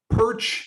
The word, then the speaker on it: Pyrcz: ahead and just mention my last name is pronounced perch at least that's the way we pronounce it based on our 100 years in Canada I've been told by